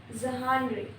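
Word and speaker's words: genre: उसके बाद है जेनरे जहानरे जहानरे जहानरे फ्रेंच स्टाइल में झ से हम बोलते हैं।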